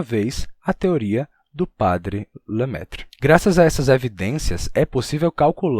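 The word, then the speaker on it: Lemaître: que foi proposto pelo padre lemetre ou com pronúncia francesa lemetre que o universo não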